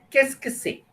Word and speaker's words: Qu'est-ce que c'est: Now the question that you see in the box on top is pronounced as qu'est-ce que c'est?